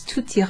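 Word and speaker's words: tout: followed by ira becomes tut you pronounce the t let me write it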